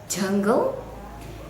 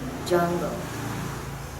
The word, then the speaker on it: jungle: d j and g for example jungle instead of jungle say jungle or baby not pee pee okay problems number four